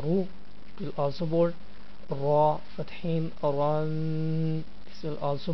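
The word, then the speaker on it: ر: sometimes we'll read the ra lightly. What is the situation when we'll read ra boldly? So definitely when ra has any of movement upon it, then we should pronounce ra boldly.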